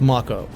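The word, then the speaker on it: Mako: on the sector one Macha reactor yes it's pronounced maca which apparently I have been saying incorrectly for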